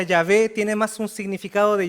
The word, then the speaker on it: Yahvé: Y nosotros no conocemos cuáles eran las vocales porque el nombre estaba prohibido pronunciarlo. Entonces se perdió. Entonces probablemente la traducción más cercana que tenemos es la traducción que se le hace al griego, que es Yahvé.